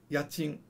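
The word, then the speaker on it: 家賃: I always remember rent as like ka-ching, ka-ching, because it's money. It's ya-chin, ya-chin.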